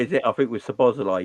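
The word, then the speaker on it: Szoboszlai: I think with Sabozalai, you don't say the Zs, do you? The Z is not.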